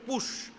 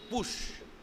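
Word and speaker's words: Putsch: সঙ্গে পরিচয় পরিচিত হলেন শব্দটির শব্দটির উচ্চারণ হচ্ছে পুশ বানানো হচ্ছে পি ইউটি এস সি এইচ পুশ এই পুশটা আমেরিকান কনস্টিটিউশনে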